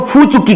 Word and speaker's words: फू चुक्की: देखिएगा, लेकिन छत्तीसगढ़ में इसको फू चुक्की कहते हैं, लॉ यहां पर साइलेंट है।